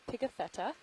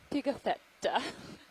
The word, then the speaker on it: Pigafetta: is named after antonio picatheta who was an italian or a steve would like me to say it antonio pigafetta we did a little